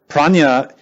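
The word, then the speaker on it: prajñā: Prajna is the wisdom that penetrates. Prajna in Sanskrit is 2 syllables, pra and nya.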